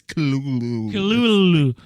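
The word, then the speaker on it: Cthulhu: my pet chulu chuu how do you say that word Dan the weird octopus thing Kulu culu well technically it's Kulu kululu you guessed it at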